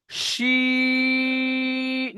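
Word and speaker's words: شين: শিন। তিনালি টান দিয়ে সিনটা সিটি পাতলা আওয়াজে বার করতে হবে, আর শিনটা মোটা আওয়াজে। শিনের উচ্চারণ হয় জিভের মাঝখান ও ইস্পজ ওপরে তালুর সাথে লাগিয়ে শিনটা উচ্চারণ করতে হয় ভাইজান।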